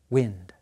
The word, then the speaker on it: wind: A clock is used to tell time, and the word time has the same vowel sound as wind. I. Time, wind.